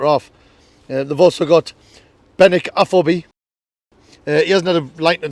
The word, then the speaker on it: Afobe: Right, Afobe. He used to I'll pull you up every time you mispronounce the name.